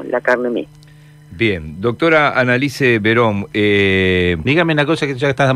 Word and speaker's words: Analice: Lo que pasa es que muchas veces le buscan esa beta extraña para pronunciarla y me dicen Analí, y es Annalise como suena.